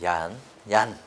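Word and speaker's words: YARN: 뭐다 라고 하게 되면 여기 빨간색으로 되어있는 이렇게 발음하면 야 그렇죠 얀 됩니다 그래서 몇가지 가 있습니까 줘 정리하면 3가지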